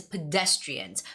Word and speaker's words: pedestrians: but like I said the stress the stress is pedestrians pedestrians it goes on the second syllable so you have to